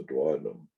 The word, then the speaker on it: duodenum: Wish they had a better picture of the duodenum, or actually all the small intestines. Duodenum is another pronunciation. I say duodenum. Duodenum is another pronunciation. I say duodenum. Either is correct.